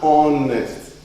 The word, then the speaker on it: honest: The H is silent. You swallow that. And you actually begin your pronunciation from the next letter, which is O. An honest man.